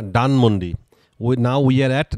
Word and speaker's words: Dhanmondi: নাও উই আর অ্যাট ডানমন্ডি। ইংলিশে ধান বলতে কোনো ওয়ার্ড নাই, ডানমন্ডি। DHANMOND, ডানমন্ডি। Now we are at Dhanmondi. Now we are at Dhanmondi. ধানমন্ডি। ধানমন্ডি বলা যাবে না, ইংলিশে কোনো ধর উচ্চারণ নাই।